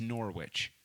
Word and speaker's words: Norwich: don't know who Norwich is how do you pronounce well I'm sorry I'm from America it's Norwich Jesus Christ no what I don't give a